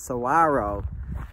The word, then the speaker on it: saguaro: Most people, when they see saguaro, because there's a G in it, but the G is silent, so it's saguaro.